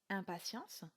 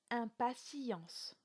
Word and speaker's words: impatience: s'agit du mot impatience on ne dira donc pas impatience mais bien impatience le verre se prononcera